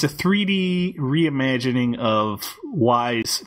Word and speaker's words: Ys: I don't know how the hell I'm going to pronounce this. Wise? Yes? It's called Wise.